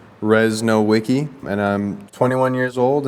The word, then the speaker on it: Rzesnowiecky: Hello, my name is Rzesnowiecky, pronounced Rzesnowiecky, and I'm 21 years old, and I've been playing pickleball now for about 11 years.